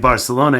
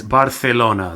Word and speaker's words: Barcelona: get too linguistic but the letter C in between two vowels which in English is pronounced like an S like Barcelona in Spanish is Barcelona they put their teeth